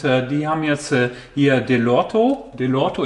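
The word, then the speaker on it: Dellorto: Delorto, ich glaube, so spricht man das aus.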